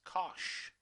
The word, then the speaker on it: cosh: okay and hyperbolic cosine which are going to pronounce as cosh okay so just for the sake of simplicity